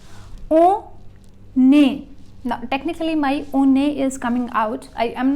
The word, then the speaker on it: on est: O, A is the pronunciation separately, O and A. And if I join, because a consonant always gets joined with a vowel, so on est. Consonant after, consonant in front of a vowel, joining, and vowel, when in